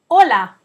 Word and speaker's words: hola: wave is hola hola it's just like saying hello in Spanish but when you're saying that kind of Ola we write it with the silent letter H at the beginning so that we can tell the difference between the two words Ola with an h